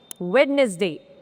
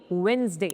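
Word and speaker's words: Wednesday: Next वेडनेसडे नहीं होता है। इसमें भी डी साइलेंट है। सो it would be वेडनेसडे।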